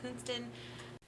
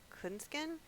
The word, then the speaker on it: Künsken: to interrupt and uh correct my pronunciation of this author's last name it's dirk clenskin literally for more than a year i have been reading it with a t and not a k and i i have